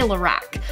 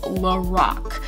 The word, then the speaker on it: Lorac: some of my previous videos i probably say lorac which what it looks like right but it's actually pronounced lorac but this palette from lorac is probably one of my go-to eyeshadow palettes